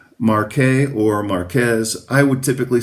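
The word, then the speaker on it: Marqués: So this is a a vineyard called Marqu or Marquez. I would typically say Marqu even though the the exact that that would be more like the French pronunciation as far as I know.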